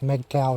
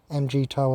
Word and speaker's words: MGTOW: towing them that's why i call it mgtow not mgtow because meg cow is just pronouncing the acronym weirdly it's meaningless mg toe at least it gives meaning to it so i'm mg toe